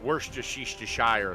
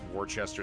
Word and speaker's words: Worcestershire: Followed by a 1/4 cup of ketchup, a tablespoon of Worcestershire sauce. Actually, I think it's pronounced Worcester sauce.